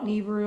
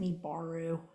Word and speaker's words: Nibiru: And because Nibiru, I call it Nibiru, I know some of you guys pronounce it Nibaru.